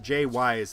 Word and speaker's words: Jay Wise: By the way, it's pronounced Jay Wise. It's not Jews or other things that'll get me canceled off YouTube.